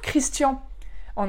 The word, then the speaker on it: Christian: quoi c'est pas top pareil pour christian en allemand donc ça se dit christiane donc pareil christina pour